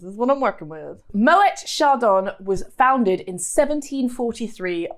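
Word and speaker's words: Moët: for you that treat is moet champagne yes pronounce the tea it's moet not my way moet you uncultured without further ado should we crack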